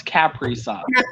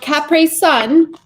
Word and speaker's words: Capri Sun: It's Capri Sun. Capri Sun.